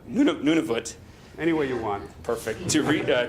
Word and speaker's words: Nunavut: say this none of it none of what Nunavut Nunavut anyway you want to read to research and